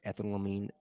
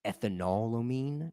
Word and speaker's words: ethanolamine: Now, I've heard it pronounced ethanolamine because it's like ethanol and then amine, but it's easier for me to pronounce it ethanolamine.